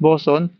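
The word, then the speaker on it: boatswain: in used Abbey toner boats pronounced boson is belal New pound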